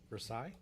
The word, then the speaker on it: Versailles: Versailles. Yes, that's how 99% of the world pronounces it. How do we pronounce it in Pittsburgh? Versailles. It's just one of those things.